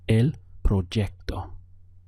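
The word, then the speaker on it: el proyecto: I am in Mexico this still takes the sound of a j even though you see it written as a y so the pronunciation is El proo how would you say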